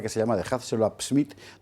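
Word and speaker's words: Psmith: Tiene una novela que se llama The Hatzell Smith, donde la P no hay que pronunciarla, es P muda.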